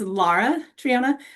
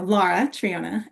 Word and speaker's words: Lara Triona: Um, just a slight change in how you pronounce my first name. You got my last name great. It's Lara Triona, but it's okay because my mom sometimes will use Laura, so it's a unique name too.